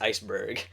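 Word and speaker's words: Iceburg: Ice Bar ice it's spelled Ice Bar it's pronounced Iceberg I liked Iceberg I liked Paulie uh both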